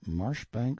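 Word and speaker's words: Marjoribanks: of chalmundale castle warwickshire pronounced kakubri flanover marshbank sellers vikant barkley of chumley castle workshop he is standing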